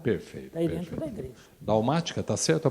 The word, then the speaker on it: Dalmática: Dalmática, está certo a pronúncia? É isso Dalmática, exatamente.